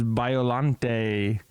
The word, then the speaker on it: Biollante: 1989 film Godzilla versus Biolante. Finally got to say it right. I was just reading it. I'm like, I don't know. But it makes sense. It's from some French poem from the 1800s.